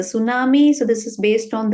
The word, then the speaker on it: tsunami: with like this right we usually write the T we say t silent so that we pronounce it as a tsunami so this is based